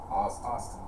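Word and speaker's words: Ostn: probably be boston austin it's o-s-t-n yeah pronounced austin sure yeah austin martin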